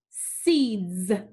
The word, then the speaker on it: seeds: The word is seeds. Seeds. What do you notice about the S sound. Seeds. Z, z. It makes the Z sound, so we're going to put a line through it.